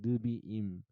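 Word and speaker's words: נביאים: 느비임이라고 읽어요. 느비임.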